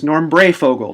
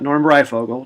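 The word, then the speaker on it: Breyfogle: goes to show uh his name is norra Fogle not norb Fogle norra Fogle so if you've ever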